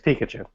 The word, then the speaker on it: Pikachu: And you don't put the emphasis on the middle syllable of Pikachu either. Yeah, it's Pikachu. Did I say that right by accident? No, you said it the American way, Yeah. as See. opposed to the way Mark says it.